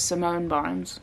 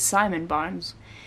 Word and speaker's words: Simon Barnes: wrote Rewild Yourself, and I totally read the author's name wrong when I said it was Simone Barnes and not Simon the first time, but it is Simon Barnes.